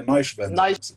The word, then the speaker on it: Neuschwander: E Rivane Neuschwan? Ah, não, acho que é Neuschwander Nós, que se pronuncia.